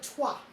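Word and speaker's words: toile: oh isn't that beautiful i think this is called tua it's spelled toil t-o-i-l-e i think there's the inside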